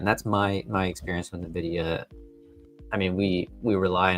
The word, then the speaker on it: Nvidia: Um but pronounced Nvidia. So, the people on the customer support line were right. I was over here telling them Nvidia and they're probably thinking I'm silly.